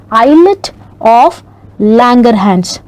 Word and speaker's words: islet of Langerhans: this is not college is lit it is pronounced as islet of Langerhans so these cells are only about one to